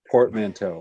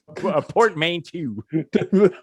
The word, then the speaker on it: portmanteau: was it a portman portmanteau yes no it's important or as as dale pronounces it port main two port mean to whatever uh this [